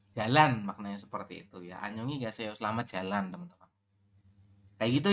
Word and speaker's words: 안녕히 가세요: Pengucapan adalah Annyeonghi geseo. Selamat tinggal. Ya. Dijawab teman-teman. Mas Ade dibantu baca. 안녕히 가세요. Annyeonghi gaseo.